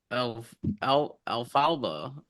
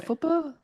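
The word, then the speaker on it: Elphaba: to the dance and like Alfalfa, I can't pronounce her name. Alphaba? Alphaba, Alphaba, not alfalfa.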